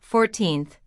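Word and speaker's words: fourteenth: The stress is on the second syllable, 14th.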